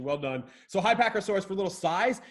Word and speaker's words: Psittacosaurus: Can we pronounce this one? I'd go with Psittacosaurus. Nailed it. Crushing the game. Perfect pronunciation. Well done. So Psittacosaurus, for little size, it's between a horse and an elephant.